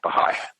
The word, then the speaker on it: Baha'i: It's spelled B-A-H-A, then there's an apostrophe I, Baha'i.